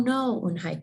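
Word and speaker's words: Unhei: No, Unhi corrected. It's spelled U-N-H-E-I. It's pronounced Unhi.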